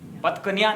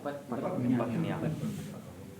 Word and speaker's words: पत्न्या: तो पत्न्या, श्रीश्चते लक्ष्मीश्च पत्न्या, पत्न्या, पत्कन्या नहीं होगा, पत्न्या।